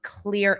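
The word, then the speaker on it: Xlear: he's a CEO of Clear, Inc., that's spelled X, L E A R, and this is streaming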